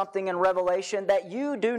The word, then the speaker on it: Revelation: that we pronounce it maybe you've pronounced the book Revelations with an s on the end that's not what this book is this book is one